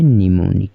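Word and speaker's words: mnemonic: निमी पढ़ा जाएगा और ठीक उसी तरह से यहां पर ए साइलेंट रहेगा और इसे हम पढ़ेंगे निमोनिक क्या पढ़ेंगे निमोनिक पढ़ेंगे ठीक है चलिए इसके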